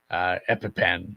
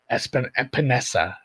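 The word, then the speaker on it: Epenesa: AJ Epipen, I can never say his last name. You got it right, I think. Epinesa.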